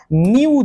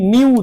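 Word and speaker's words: ν: আমি একে উচ্চারণ করলাম নিউ দিয়ে। তাই না? একে আমি উচ্চারণ করছি নিউ দিয়ে।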